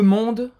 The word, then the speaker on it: monde: A pronúncia de monde termina no D. A gente não pronuncia esse E no final.